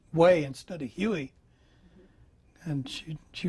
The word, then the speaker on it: Hue: And So it's pronounced way.